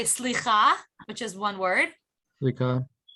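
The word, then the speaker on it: סליחה: Slicha.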